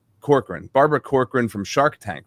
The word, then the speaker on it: Corcoran: Corcoran.